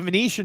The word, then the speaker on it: Venetian: somewhere anyway I the Venetian should expand to Bowmont it's here's how you spell it V NE t i n like Martian but with Venetian don't confuse me V